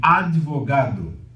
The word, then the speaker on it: advogado: Daí alguns pronunciam advogado, porque não existe, quando você tem uma oclusiva fechando sílaba em português, a tendência é haver uma ressilabação. Você vai criar uma nova sílaba.